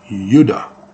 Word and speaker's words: Judah: the story and so Judah is not J it's you Yuda does that sound very close phonetically to Utah because D and T